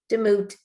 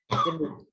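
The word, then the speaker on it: דמות: Demut. Usually the syllable in Hebrew is never the first syllable. It's usually the accent on the second or third, but usually the second. Demut.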